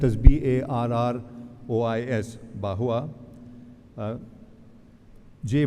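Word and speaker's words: Barrois: philosopher whose name is bahua it's a it's a French name so it's pronounced but spelled as b-a-r-r-o-i-s bahua Jai bahua to be specific who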